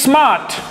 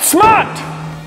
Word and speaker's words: Smart: The next German car name you say wrong is Smart, when it is actually pronounced Smart.